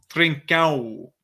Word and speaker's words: Trincão: I think the right to say is trincão. Trincão.